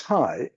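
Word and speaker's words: HAI: This is perhaps a new term, which I pronounce high, like in a greeting.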